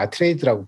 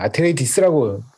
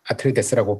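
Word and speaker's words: Atreides: 때 아트레이드라고 번역이 들어왔는데 뒤에 ES를 발음을 하냐 안 하냐가 이슈였는데 그 영화를 보시거나 하시면 아니면 이제 그 오디오북 이런 데 보시면 아시겠지만 아트레이디스라고 이게 미국 사람들은 발음을 하고 정식 명칭은 이게 아마 아트레이디스다. 원래 근데 아마 이게 그리스에서 어디서 왔을 거예요. 그러니까 우리는 그냥 아트레이데스라고 발음하면 될 것 같고 미국 사람들은 아트레이디스라고 발음을 하더라. 라는 거죠.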